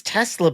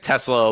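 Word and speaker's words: TeSlaa: I think it's Tesla, but it's spelled TE capital SLAA.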